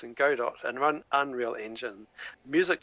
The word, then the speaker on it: Godot: kind of settled on Godot, which apparently is pronounced Godot by the devs. So I'm not going to call it Godot.